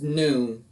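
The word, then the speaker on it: nun: also next is noon this is noon let's see okay noon noon makes the sound like in nap like in nice noon also has a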